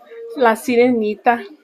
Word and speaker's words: La Sirenita: La Sirenita.